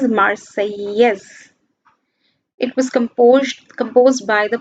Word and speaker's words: Marseillaise: Then this is an important point mentioning that when National Assembly came into being, then Marseillaise, this is the national anthem of France, and the French pronunciation is Marseillaise.